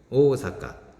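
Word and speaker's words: 大阪: 얼음 오사카가 이나 장음 이 들어가고 의 사각 오오사카 않았고 4 깝니다 5 사까 보 사건 의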